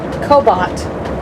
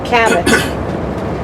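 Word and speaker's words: Cabot: it right no no how do you pronounce it cobot no help me what do you what do you take when you take a taxi it out cabbat okay cabbat Creamery is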